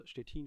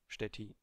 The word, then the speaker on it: Szczecin: Quick disclaimer, even though my whole family is from Poland, I don't speak any Polish, so for the remainder of this video, I stick with a German pronunciation, Szczecin. In this video, we want